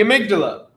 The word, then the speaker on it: amygdala: we're gonna talk about the amygdala yeah it's how it's pronounced I know it looks weird the amygdala is near the